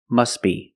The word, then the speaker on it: must be: could say must be but if you link the words you pronounce it must be must be the t is silent because it's between consonants when you link the